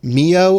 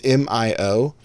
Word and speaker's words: Mio: I still don't know how to pronounce it moo or Mayo it's Mio um that shoots insect